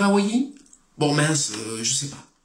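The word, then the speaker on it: Hawaii: trouve sur l'île d'hawaaiï ça j'ai bien prononcé il faut dire hawaïi bon mince je sais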